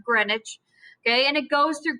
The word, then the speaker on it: Greenwich: called the greenwich meridian now i know it looks like green witch but they're british and they have to make it complicated it's pronounced greenwich okay and it goes